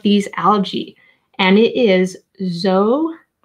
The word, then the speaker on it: zooxanthellae: And it is zooxanthellae. Zooxanthellae? Zooxanthellae. I love it when the letter X sounds like a Z. It just sounds so cool.